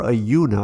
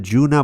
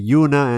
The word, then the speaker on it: Ajuna: bit about dot insights and then ajuna or a Yoona I keep saying that Juna but it's actually Yuna and their Canary is bayun Network right the